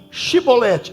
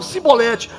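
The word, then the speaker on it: שיבולת: Então diga para mim Shibolete. Eles tinham a língua presa. Diga para mim Shibolete. Eles não conseguiam falar Shibolete, eles falavam Sibolete.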